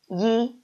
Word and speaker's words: 一: but actually is wrong you should write it like this first home because this is its original tone okay no matter what word it is with Curtis he is pinging forever and need to write is original tone which is first home yi okay you although